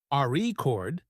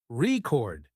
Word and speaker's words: record: that's true for example in the word record if you stress the first syllable rord it's a noun but if you stress the second syllable record it's a verb practicing stress and intonation